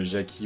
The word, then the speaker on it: Jackie: On prononce Jackie ou Jackie, ça c'est comme on veut.